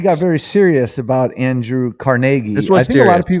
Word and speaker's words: Carnegie: A lot of people, I think a lot of people call him Carnegie. But depends on where you live at. Yeah, but I believe the appropriate pronunciation is Carnegie. It is Carnegie. Right? Yep. Because he's Scottish.